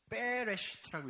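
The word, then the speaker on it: בראשית: 이걸 경강음이라고 해요. 히브리어에서. 그래서 베레시트라고 읽게 되는데 그건 문법적인 이야기가 아니라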